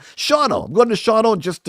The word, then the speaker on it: Shawano: Going up to Shawano. That's not how you say it. Shauno.